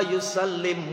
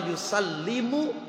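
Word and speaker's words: يُسَلِّمُ: Al jannatu wa na'imuha sa'dul liman yusalli wa yusallim wa yubarik alaih. Itu pakainya pakai sukun. Padahal mestinya wa yusallimu wa yubariku.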